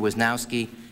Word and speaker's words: Wisnowski: I believe the correct pronunciation is Mr. Wisnowski and Mr.